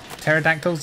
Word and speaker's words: pterodactyl: They're just pterodactyls? Yeah, there we go. Are they? Pterodactyls, but it's spelled with a P.